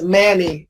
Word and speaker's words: many: Yeah, D is many. It's one of the rarest cases in English where the letter A is pronounced eh.